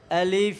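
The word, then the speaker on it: ألف: শুদ্ধভাবে উচ্চারণ হচ্ছে না আলিফের শুদ্ধ উচ্চারণের নিয়ম হলো এই উপরের দুইটা দাঁত নিচে ঠোঁটের সাথে বাজবে নিচের ঠোঁটের সাথে বাজবে এবং বাতাস চালু থাকবে বাতাস বের হতে থাকবে এইটা হলো কি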